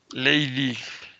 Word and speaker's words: Leydig: No como Lady Tatiana, sino Leydig. Se escribe así.